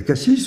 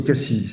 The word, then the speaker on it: Cassis: ou avoria avoria euh est-ce qu'on va à Cassis ou à Cassi c'est Cassi euh gérardé alors un qui